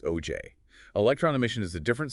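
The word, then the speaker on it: Auger: Ah yes, augur pronounced OJ.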